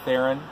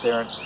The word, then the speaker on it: Theron: kind of like Sharon it rhymes with Sharon so that's how you pronounce my last name is Farah joining us Charlize Theron babe bra they came